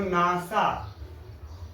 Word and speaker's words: NASA: लेकिन जब हम इसको पढ़ते हैं तो नासा एक शब्द के रूप में पढ़ते हैं, ऐसा लगता है कि एक शब्द है, यहां से लेके नासा, जैसे कि हो गया कोई नाम अमित, वैसे ही नासा एक शब्द है, यानी पूरा को हम लोग बस एक शब्द पढ़ लेते हैं नासा।